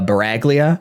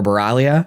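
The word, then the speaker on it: Sbaraglia: I'm assuming the S is silent in this. Uh, it starts with S. It's SB A R A G L I A. It wouldn't be Sporalia. Sporalia. That wouldn't make any sense.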